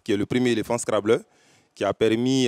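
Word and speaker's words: Scrabble: fan de scrable d'ailleurs on dit pas screbol bon ça dépend le scrable là ça ça c'est c'est une prononciation française voilà Scrib là maintenant ça c'est une intonation anglaise VO anglaise bon en français quand on parle on dit scrable fais un coucou à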